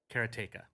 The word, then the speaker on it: Karateka: up to Jordan and Jordan pronounces it and I might get this wrong but he pronounces it karateka chronica is one of